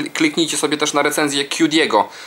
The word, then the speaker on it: QDPSX: W ogóle kliknijcie sobie też na recenzję Q Diego, czyli QDPSX, pisze się Q, litera ta amerykańska Q, DIPSX, razem wszystko pisane łącznie.